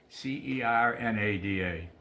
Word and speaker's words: Cernada: What is your last name? Cernada. How do you spell it? C E R N A D A. Cernada. Cernada? Spanish name, yeah.